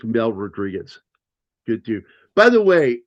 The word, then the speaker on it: Rodriguez: Do you know how my dad said that? Anybody want to take a guess any of you two? Rod Reguez? I'm pretty sure he butchered it. Rodrigwaz. That's how my dad would say it Rodrigwaz. Rodrigwaz. And I'm like Oh I was close. Rodriguez. And he goes Rodrigwaz. I'm like stop saying it that way.